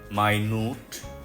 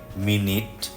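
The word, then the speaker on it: minute: তাহলে শব্দটা separate separate খুব ছোট কিছু বোঝালে মাই নুট মাই নুট যদি 60 সেকেন্ড বোঝায় তাহলে মিনিট যদি মিটিং এর বিবরণী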